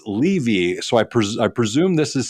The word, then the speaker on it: Levy: to be a globally global credibility expert it's pronounced levy so I presume this is something that people